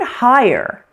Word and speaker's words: higher: The word higher looks like it's one syllable in writing, but actually sort of sounds like two syllables. It's not officially two syllables, but it's close. When we slow it down a little bit, it sounds like this.